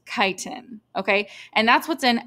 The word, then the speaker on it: chitin: It's pronounced chitin, okay?